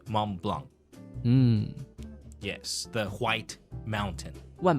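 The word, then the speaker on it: Mont Blanc: in the alpes and that Peak is called Mom Blanc yes the white mountain m o n t b l a n c but we pronounce it mon Blanc why doesn't the C have to pronounce it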